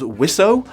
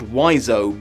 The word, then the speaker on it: Wiseau: seems to me that he's pronouncing his friend's name as wisso while the internet is insisting it's pronounced wiso but honestly I'm gonna